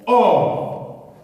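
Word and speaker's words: אור: Or. En hébreu, c'est prononcé or.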